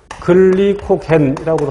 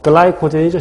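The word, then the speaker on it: glycogen: 그래서 식후에는 포도당이 글리코겐이라고도 하고 글리코젠이라고도 발음하고 글라이코젠이죠 실은. 글라이코젠 또는 글리코겐이라고 발음해요.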